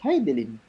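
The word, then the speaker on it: Hidilyn: How do you pronounce her name? Kasi ang dami nag-iimbento kung paano i-pronounce yung pangalan. Di ba Ano nga Heidelin? ba? It's Heidelin.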